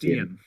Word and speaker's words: Dian: front of it okay Ian with a D in front of it that's very helpful okay okay bad yeah like in front of it but it sounds like a yeah d Dian it's pronounced Dian yeah okay okay let's